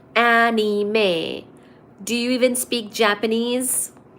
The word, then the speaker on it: anime: matad Hatter stay on the live and drink anim is pronounced anime do you even speak Japanese no because I'm